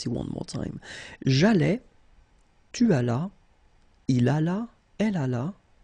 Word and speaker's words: tu allas: J'allais, tu allas, remember final S is not pronounced, il alla, elle alla.